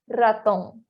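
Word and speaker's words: ratón: Ao mesmo tempo que o R inicial também vai ser o vibrante, porque, mais uma vez, não existe o som do R da garganta. Então, seria raton. Raton.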